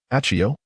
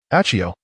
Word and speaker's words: Aio: Aio. Aio. The final syllable must be pronounced clearly and with a sharp emphasis.